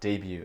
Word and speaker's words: debut: Parce que normalement, on prononce tous les consonnes et tout ça, mais vu que c'est un mot français, on a essayé de garder le sens français à peu près.